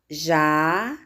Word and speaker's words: jacaré: Jacaré vai ficar jacaré. Sílaba mais forte da palavra jacaré, ré.